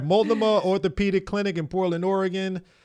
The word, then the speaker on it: Multnomah: I pronounced Multnomah properly, right? That is right. You did it exactly right. Multnomah.